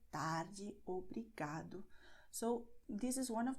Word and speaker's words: obrigado: Because many words have these endings, so they are going to be stressed in the second to last syllable. Obrigada, tarde, obrigado.